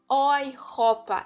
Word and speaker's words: Europa: A junção da letra E e U tem som de OI. Então, eu não falo Europa, eu falo Europa. Europa.